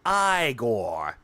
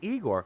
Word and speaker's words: Igor: It's pronounced Iiggore. Um, no. I thought it was pronounced Eigore. Well, they are wrong, aren't they?